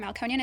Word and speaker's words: Melkonyan: my Instagram account which is monean firm and it's spelled m e l k o n y a n firm f i RM malconian is my last name feel free to look